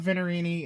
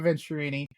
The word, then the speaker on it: Venturini: to see this place um we talked about venerini and obviously venturini I keep on mispronouncing it we've talked about venturini and the the lineage that they have as